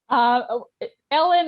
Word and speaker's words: Elin: Ellen or Elaine is fine. As long as you don't call me Helen or Erin.